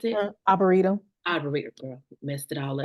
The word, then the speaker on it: Arboretum: Is that how you pronounce it? Arboretum.